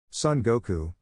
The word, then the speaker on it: Son Goku: enough well I have to try even harder Son Goku that's how you say it but we have